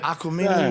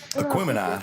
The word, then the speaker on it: Aquemini: Outcast, like I mean, but Aquamini, or how do you say it? Aquemini. That's what I'm trying to say.